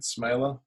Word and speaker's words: Smeele: at smiler but my last name is spelt real funky SME le likes mealy yeah Dutch pronunciation smiler Suzette smiler or